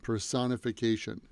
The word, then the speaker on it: personification: personification person if vacation personification the stress is on the second syllable so the personic the